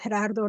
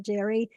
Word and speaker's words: Gerardo: It's Gerardo, not Jerry.